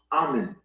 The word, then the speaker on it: amen: So understand, the word amen is actually pronounced amen.